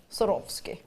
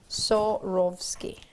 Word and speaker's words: Swarovski: If you're not sure how to pronounce it, I think of sawing off skis. Or I pretend that I'm Russian. Swarovski. Swarovski.